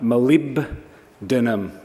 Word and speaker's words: molybdenum: were 52 of them in terms of pronouncing it it's really easy if you learn nothing more from my speech today malum um malib denum um and it's quite